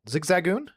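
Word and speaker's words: Zigzagoon: Zigzagon.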